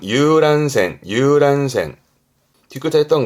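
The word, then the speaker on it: 遊覧船: 유람선 발음은 유란센.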